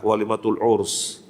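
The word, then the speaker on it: walimatul 'urs: Disunahkan siapa saja yang menghadiri akad nikah, walimatul urs. Pakai sin ya, suka-suka orang nulisnya salah, pakai shin, pakai sin. Sehingga kalau ditulis dalam ejaan Latin ya pakai S, bukan SY.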